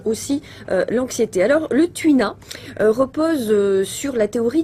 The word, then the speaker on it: Tui Na: le connaissait pas comment il s'appelle celui-là le Tuina le Tuina comment ça s'écrit t u i n a c'est le